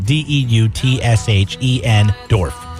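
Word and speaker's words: Deutschendorf: Duschendorf. I don't know if I'm pronouncing it. Deutshen Dorf. Okay. Yeah, that's right.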